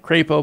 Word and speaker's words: Crapo: According to Business Insider, the legislation known as the Crapo bill, after Mike Crapo, I know that's not how you say it, it's Mike Crapo, but I call him Crapo for obvious reasons, would increase the threshold